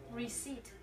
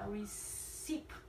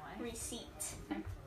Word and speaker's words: receipt: onion onion thank you how about this receipt receipt yeah a lot of Vietnamese people will pronounce it we seek and it's wrong receipt how about this dessert this one please pizza